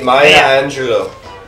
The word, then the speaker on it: Maya Angelou: Maya Angelou. That's how you say it, guys. I know how to pronounce it sometimes.